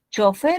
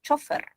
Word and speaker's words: chofer: Chofer es una palabra que sí comúnmente la usamos como palabra aguda, sin tilde, pero también, dice la academia, puedes pronunciar chofer, chofer. Ambas. Tiene doble acentuación.